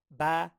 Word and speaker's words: 八: 八 Ba, ba. So I think of sheep, ba, right?